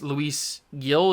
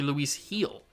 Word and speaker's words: Luis Gil: out I did finally figure out how to pronounce Luis Gil is how I was pronouncing it, which is wrong. It's actually Luis Gil.